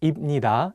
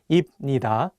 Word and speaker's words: 입니다: For example, if you just read the Hangul on their own, you might want to say 입니다 and 합니다. But the correct pronunciations are actually 입니다 and 합니다.